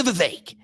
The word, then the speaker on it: Vivek: Bring it back to the Vivek. Rhymes with cake.